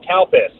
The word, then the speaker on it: Calpis: In Japan, they've got a sports drink they call cow piss. No, it's a thing. Look, Oh. the thing is you have to spell it, I believe. Do you remember how to spell it? Yeah, it's spelled CALPIS.